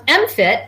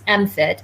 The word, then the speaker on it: MMFT: work yeah so um mfit that's how we pronounce the acronym you couldn't work in a high stress environment without having an acronym so we have one mmft which we pronounce mfit and it focuses on